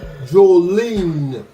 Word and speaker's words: Jolene: She French, y'all. Jolene. I want y'all to say, when you meet her, say it right, Jolene. Your sister-in-law is Joe. Right, Jolene. Don't get that confused, Jolene.